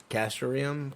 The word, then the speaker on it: castoreum: palace you might have you'd pronounce that for me castoreum kids Centauri is that it is it the